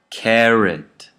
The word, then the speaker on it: carrot: The last syllable is unstressed now, and the first syllable is stressed. So I would say purchase, carrot, minute.